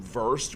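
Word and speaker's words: Wurst: you may know, uh, worst comes from verse, which is German for sausage.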